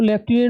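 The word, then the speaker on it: lieutenant: है spelling error में लटने लिखा क्या जाता है लूनेट और बोला क्या जाता है लेफट क्लियर तो क्या बनाना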